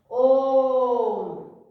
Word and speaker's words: ओम: ओम, तो ओम शब्द का उच्चारण हम सही मायने में करें तो ओ को 3 गुना ज्यादा साउंड तक बोलना है, ओम, ठीक है।